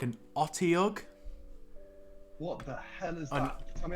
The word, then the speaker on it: Otyugh: Okay, I don't know how to pronounce it. It's like an Otyugh.